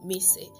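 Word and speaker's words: Mici: that you call me missy mrs m-i-c-i and pronounced m-i-s-s-y that's right you need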